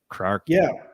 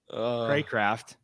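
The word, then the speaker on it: Cracraft: Craft. Yeah. River Craft. Number 85. Yeah. River Craft. Craycraft.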